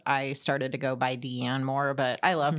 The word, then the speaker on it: Deann: up Deann, which I don't know why it's easy, but Deanna is like, I get called Deanna, Dean, Dina, and it's like, it's really not that hard.